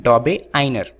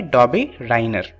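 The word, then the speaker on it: Döbereiner: दरअसल ये यूके की प्रोनाउंसिएशन है। दरअसल ये जो साइंटिस्ट हैं वो जर्मनी के हैं और इनके नाम में बहुत दिक्कत होती है, तो यूके वाले इसे प्रोनाउंस करते हैं डॉबे-आइनर। वहीं पर जो इंडियंस हैं वो इन्हें प्रोनाउंस करते हैं डॉबे-रायनर।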